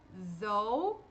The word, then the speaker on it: though: Como que vai ser a pronúncia desse OU? Som de OU mesmo. Though, e o GH aqui, mudo. Como eu falei pra vocês, né, no final da palavra, GH mudo.